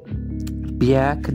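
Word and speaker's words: Björk: Bjerk, that's how you pronounce her name, beating up a reporter.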